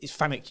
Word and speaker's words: FANUC: say I hear I hear both but it's fanuc UK I guess I think that's just potato